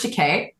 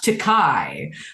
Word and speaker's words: Takei: Speaking of education, I'd like to quote a tweet from George Takei. Okay, this is from January 20th, 2011. It's pronounced Takei, not Takai, but I don't mind Takai because that means expensive.